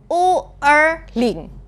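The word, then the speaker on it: 五二零: it's pronounced "wu er ling" the sound is very similar to "wo ai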